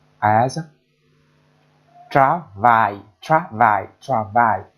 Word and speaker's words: travail: I, I, I, I, I, I, as travail, travail, travail. Tra plus a, tra, vo plus I, vai. It is a two-syllable sound. Two-syllable word, I mean.